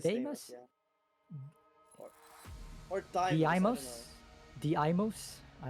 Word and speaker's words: Deimos: I think that's pronounced Deimos. It is Deimos, yeah.